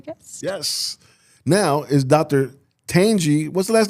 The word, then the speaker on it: Tanjie: Tanjie. What's the last name again? All right. Not from the Milwaukee Brewers, right? No. No. Tanjie. Angie with the T. Don't you? Tanjie.